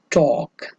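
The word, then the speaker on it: talk: तो और लास्ट जो आपका वर्ड है उसमें टॉक, टॉक, तो इसमें भी जो आपका एल है वो साइलेंट रहता है।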